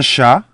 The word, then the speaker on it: chat: So here again the last consonant, the T of chat, which is silent, becomes double T's in the feminine, and it's no longer silent.